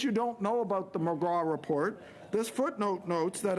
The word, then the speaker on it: McGrath: Now, most people would pronounce it McGrath, but it's not pronounced McGrath. It's McGraw, a good Newfoundlander MP